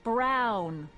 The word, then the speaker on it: Brown: Someone who That's Emmett Brown. Rhymes with clown, which I'm beginning to think you are.